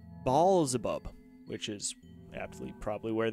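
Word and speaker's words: Beelzebub: depending on your interpretation blub is pronounced ball abub which is AB probably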